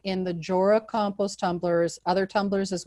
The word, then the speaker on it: Jora: who invented it and his name he pronounces his name jorah but a lot of people will pronounce it yora so you're not alone